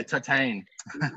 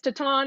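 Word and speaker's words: Titane: teton or titanic yeah titan yeah i always say i don't know yeah i say titan and everyone's like it's tatan and then i say tatan and there's titan i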